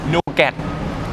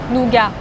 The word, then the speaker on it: nougat: Nougat. Nougat. Nougat. Yes, you don't say the T in the end.